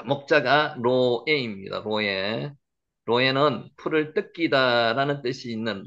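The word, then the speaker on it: רֹעֶה: 로에 읽으시겠죠? 로에 여기는 로이라고 읽는데 로이 이렇게 로이 목자입니다.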